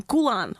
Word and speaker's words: Khulan: Did I pronounce that right? I always ask my guests ma'am. first question. Khulan, right?